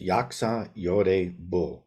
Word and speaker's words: Yaksa Yeorae Bul: bit and then see this is yaka y bull is the pronunciation and I'm going to